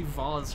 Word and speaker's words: vase: you're talking to someone he's never gonna say vaz or whatever the correct quote-unquote pronunciation is he's gonna say vase you know what i